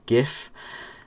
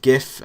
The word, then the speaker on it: GIF: you have you have gif and you've gif and that stands for graphics interchange format people prance it gif or gif I finger meant to pronounce a jiff but I've never call